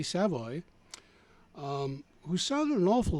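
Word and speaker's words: Savoie: theater of the mine singer Gary savvo pronounced sa Savoy sorry Gary Savoy um who sounded an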